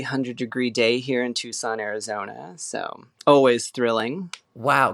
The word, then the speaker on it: Tucson: original that's that is that was the Native American way to say that word before uh it became Americanized and it is Tucson now so no no